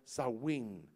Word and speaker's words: Samhain: Samhain se mira, compuesto como Samhain, aleluya, pero se está producido, está pronunciado Samhain, que era el mismo Satanás, amen, el dios de la muerte.